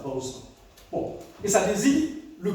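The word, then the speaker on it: בשר: la chair se dit Bausra. Ça s'écrit B-A-S-A-R, mais ça se dit comme ça, Bausra.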